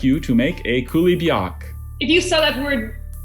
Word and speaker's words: coulibiac: challenge, Vladimir and Olga would very much like you to make a coulibiac.